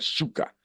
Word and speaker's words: Zucker: bueno, pues se escribe Zuckerberg con Z, pero a la hora de pronunciar Zucker, en inglés se dice Zuka, y Zuka, escrito en